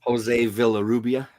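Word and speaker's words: José Villarrubia: So, apparently they showing exclusive images from what the V I can't pronounce his surname. The guy who remastered his work for that Limwood specifically. Jose Villa Rubia.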